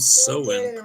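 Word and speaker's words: Samhain: Is that It says it's pronounced Soen. So, the the Celtic festival of Sen pronounced so it says 2,000 years ago uh what is now Ireland.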